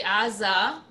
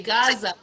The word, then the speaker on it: Gaza: gamer and ein so in hebrew you would say aza and in english you say gaza really in arabic is